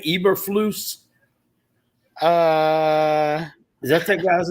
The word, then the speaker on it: Eberflus: According to Google, Eberflus. Yeah, That's how you pronounce Eberflus.